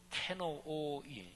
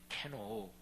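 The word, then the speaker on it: κενόω: 헬라어 발음으로 케노오, 이렇게 발음하는데 케노오.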